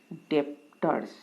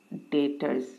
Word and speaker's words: debtors: might pronounce it as depthers but actually it is deters b is silent so who are deters debtors can be a